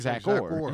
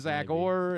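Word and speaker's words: Zach Orr: It sounds like you're saying Zack Core.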